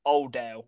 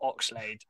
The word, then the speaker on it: Oldale: It's Alex Oldale, not Oxade.